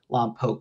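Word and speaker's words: Lompoc: Lamp Poke is how they pronounce it there.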